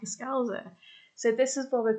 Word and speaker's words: Scouser: And this is pronounced Scouser, as in, wow. So that's basically a nutshell, really. So that's how you pronounce it, Scouser.